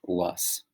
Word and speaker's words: loess: rich soil in china this soil was called lus l-o-e-s-s okay i'll show you guys and see